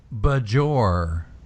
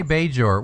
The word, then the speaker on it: Bajor: tell you why because you'll notice that he pronounces it budge or and it's true yes he doesn't say Bajor which he does by the way by the